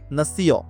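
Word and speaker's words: nation: আই ও এন এর উচ্চারণ হবে ইয়, ইয় না সিও, না সিও।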